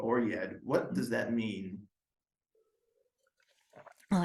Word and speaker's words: Oryad: And so I spelled it with a Y instead, just for pronunciation purposes for American audiences, instead of saying Oread, Yeah. Oryad.